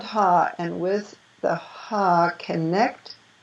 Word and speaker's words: Ha: So now we're going to work with the seed syllable of the Vajra Dakini in the east. And that's Ha, H-A.